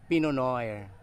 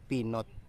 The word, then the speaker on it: Pinot: Fino kita niyo guys pono yan ang pronounciation niyan Hindi pinot kasi Fr word yan eh so yan ang